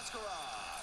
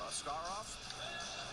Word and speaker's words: Askarov: you guys calling him Askarov? He demanded a change. He wants to be called Askarov over here, although the correct pronunciation is Askarov.